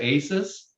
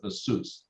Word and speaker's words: ASUS: company called uh asus this is the the asian way to say it's the sous suits a lot of people say aces or or a suit but but the the proper pronunciation is as asus like ah so back then they didn't